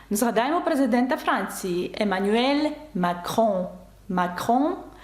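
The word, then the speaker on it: Macron: президента Франції емаель макроon макрон пишеться через се але звук к макрон але ця літера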